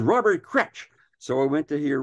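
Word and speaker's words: Kroetsch: And I said, "How do you pronounce his name?" "Kretsch," said David Arneson. He says, "Robert Kretsch."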